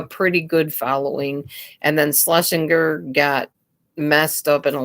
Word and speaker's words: Schlesinger: Rush Limbaugh and Laura Schlesinger. I can't say that word. Schlesinger. I think that's how you say her name.